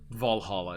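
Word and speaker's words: VA-11 Hall-A: It's the game VA11 Hall A, or Valhalla as it's pronounced.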